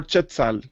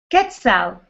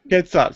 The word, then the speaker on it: Quetzal: And the first part is Quetzal or Chetzal? Quetzal. Quetzal.